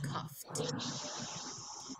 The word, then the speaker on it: coughed: For example, the verb cough is not spelled with an F, but as an F sound, as a F sound. So it follows the rules for the F sound, which is ED pronounces T, it's coughed.